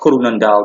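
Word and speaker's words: Groenendaal: one was called greendale uh kurunendal that's how it's pronounced in dutch literally translated means greendale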